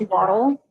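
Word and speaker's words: WATL: I mean, I'm personally partial to Lumber Ducks because World Axe Throwing League is pronounced Waddle.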